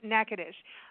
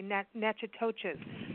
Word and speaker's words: Natchitoches: I'm going to spell that. It's Natchitoches. Well done. But it's pronounced Natchitoches. A lot of us want to say Natchitoches.